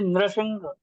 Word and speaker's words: नृसिंह: न पे र की मात्रा है, र अलग से नहीं है, तो हम उसको नर हाँ, नहीं नर नहीं है। बोलेंगे। जैसे नृप पढ़ते हैं ना, नृप, नृप वैसे नृसिंह।